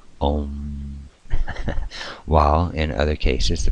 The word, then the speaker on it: Om: or is also symbolized by the word Om, pronounced Om.